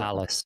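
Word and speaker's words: Nalas: Is that how you pronounced it? Nallis, yeah.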